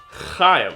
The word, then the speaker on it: Chaim: Oh, Chaim. One more time. Chaim. Okay, you know what? Just imagine there's a piece of popcorn stuck in the back of your throat.